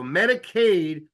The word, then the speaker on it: Medicaid: word State and Aid so Medicaid almost rhymes with State Medicaid is State Medicare